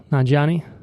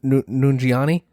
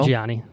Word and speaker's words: Nanjiani: Say his name for me. Kumail Nanjiani. Yes, Mr. Nungiani. No? Nanjiani. Nungiani. Closer. Yeah, we'll go with it.